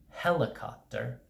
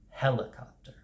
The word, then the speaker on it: helicopter: of a word so in helicopter the first syllable gets the most pronunciation or the most full stress helicopter helicopter so if you say